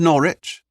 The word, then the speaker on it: Norwich: He pronounced the name of the city in two distinct syllables, the second rhyming with which. It's called Norwich, Father Martin replied with a slight smile. Rhymes with porridge.